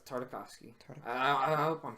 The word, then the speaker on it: Tartakovsky: Yeah, it's Tartakovsky.